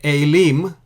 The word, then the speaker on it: אֵלִים: Again, it is pronounced the same way, Aileem.